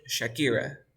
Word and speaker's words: Shakira: A ver, pronuncia la cantante Shakira. Shakira. Yeah, Shakira. yeah. No vayas a hacer el sonido como Shakira, sino como chachichichochu. A ver, de nuevo.